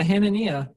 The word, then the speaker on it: Hanania: with you here how do you think it's pronounced and ania yeah actually yeah hananiah yeah you're like probably ten percent i actually